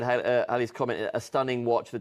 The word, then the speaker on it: Halley: The Comet was discovered by Edmund Halley. And it's actually, you pronounce it Halley, apparently. I've been corrected so many times.